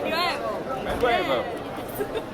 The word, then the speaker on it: Medway: Medway.